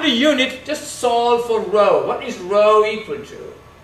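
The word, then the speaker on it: rho: or r equal to row l/ a this is a Greek letter pronounced row row and this row is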